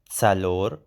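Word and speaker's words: څلور: Then we have tsalor. Be careful, the ts sound.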